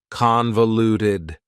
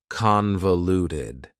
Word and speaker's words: convoluted: Convoluted also has 4 syllables, and the stress is on the first syllable, convoluted. That second syllable again has that schwa sound, that reduced vowel sound. Convoluted, convoluted.